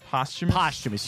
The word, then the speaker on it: posthumous: Is it pronounced posthumous or posthumous? Posthumous.